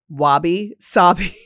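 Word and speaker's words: wabi-sabi: Wabi sabi. Wabi sabi. And it's spelled just like it sounds.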